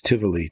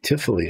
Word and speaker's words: Tivoli: It's Tivoli. Tivoli, actually, the V is kind of like an F sound, we found out, not Tivoli.